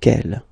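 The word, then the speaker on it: quelles: And the good news is that you will pronounce them the same way. Alright, so quelle, quelle, quelle, and quelle.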